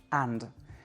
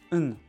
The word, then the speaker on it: and: Alors, si je le prononce complètement, toutes les lettres, ça fait and. Mais en réalité, on prononce un.